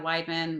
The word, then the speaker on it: Weidman: Easy way, because everybody gets it wrong, and it took me like 20 some years to figure that one out. We ID man.